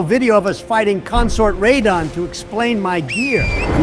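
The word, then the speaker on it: Radahn: of us fighting consort ridon to explain my gear I may have lapses of thought but even I know it's pronounced redon potato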